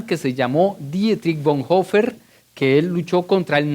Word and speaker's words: Bonhoeffer: los nazis en Europa estudia dietrich bon hofer se escribe dietrich bonhoeffer dietrich bon hofer fue un gran teólogo